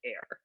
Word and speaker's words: Aer: things called terra and air so terra is just spelled like this air is aer um okay so the